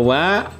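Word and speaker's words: は: Ya, saya tuliskan di sini ya, wa dalam hiragana ini seharusnya ini ya dibacanya adalah ha, ya.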